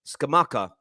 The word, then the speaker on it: Scamacca: I know Arsenal fans want to speak about, I want to make sure I pronounce his name right. Let me just read this through again. Gianluca Scamacca. Scamacca.